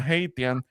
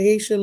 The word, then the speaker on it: Haitian: Say Haitian, Ramon. Haitian. That's how I say it. SH. Put an SH there. Haitiana.